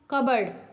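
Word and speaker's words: cupboard: दिया हुआ है कि silent letter is left the on pronounced such as द जैसे डी आपका है in hand करर cheap and एन in autumn and पी इन कबर्ड तो साइलेंट वर्ड ऐसे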